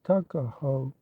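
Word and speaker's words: Tuckahoe: not belong to him Eastern Shore men usually pronounce the word Tuk as tuck Tu AO therefore is in Maryland parlament tuckaho but whatever may have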